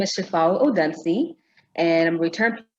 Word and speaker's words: Shifawu: And today we have the fabulous Shifawu. Did I pronounce that correctly?